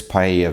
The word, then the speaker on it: paella: I love paella because it's Oh, I should have pronounced it correctly. Paella, not paella.